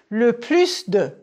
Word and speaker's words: plus de: number le plus de prononcer le plus de oui on entend le S am le moin de